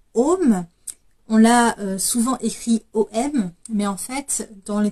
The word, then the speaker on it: AUM: avez les traditions yogi on va plutôt l'écrire à u m et le U se prononce plutôt ou pour comprendre un petit